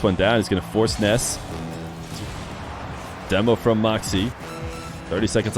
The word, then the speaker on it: Nass: of these guys you hear me call them Ness and the reason why is because Ness himself said that that's how it's pronounced uh you know it's spelled n-a-s-s but